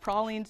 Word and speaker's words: pralines: i've been educated that it's pronounced pralines in new orleans so that's what we're